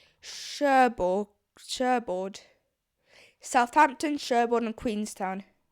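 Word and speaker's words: Cherbourg: By the time the liner stops at Sheborg in Queen Shaird Shaird. What is Shabbird? It's Sherborg.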